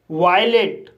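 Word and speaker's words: violate: वायलेट इस word में वी को व पढ़ा जाएगा। आई को आई पढ़ा जाएगा। ओ को आ पढ़ा जाएगा। एल को ल पढ़ा जाएगा। ए को ए पढ़ा जाएगा। और टी को ट पढ़ा जाएगा। और ई साइलेंट रहेगा। इस तरह से इसे वायलेट पढ़ा जाएगा।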